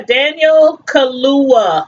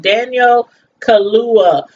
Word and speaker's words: Daniel Kaluuya: But yeah, Daniel Kaluuya. I think that's how you say his name. Daniel Kaluuya.